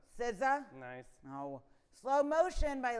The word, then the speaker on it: SZA: Kendrick Lamar featuring Sia. SZA. SZA.